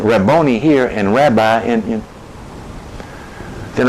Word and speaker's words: Rabboni: In Matthew, it is Rabboni.